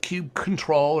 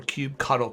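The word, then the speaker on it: kubectl: rest of the class I'm going to pronounce this command KUB CTL as cube cuddle you'll find there's a very high percentage of people that also refer to it as cube control my preference is Cube cuddle you can make your own determination on how you want to pronounce it so first of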